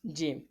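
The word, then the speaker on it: ج: And this letter is pronounced from the middle part, from the middle part of tongue touching the middle part of the palate.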